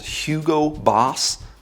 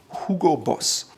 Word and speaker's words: Hugo Boss: In the US, oftentimes it's called Hugo Boss, but the proper pronunciation is Hugo Boss.